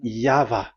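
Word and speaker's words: Yahweh: is the phonms the pronunciation pronunciation is equal V. It is V. Y H VH. So it is Yava.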